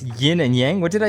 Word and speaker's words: yin and yang: It's pronounced yin and yang.